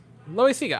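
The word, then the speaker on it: Loáisiga: I believe it's like Loisiga. Loisiga. I was right. I was gonna say Loisiga.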